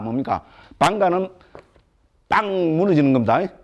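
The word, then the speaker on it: bhaṅga: 본래 A 뒤에 A는 지금 힌디 마라티가 인도 말에서 이건 발음 안 합니다. A는 발음 안 합니다. 그죠? 산스크리트 빨리에서만 고전 언어에서만 이게 지금 그죠? 발음하는 거로 되어 있습니다. 됐죠? 힌디 마라티어는 이게 발음을 안 합니다.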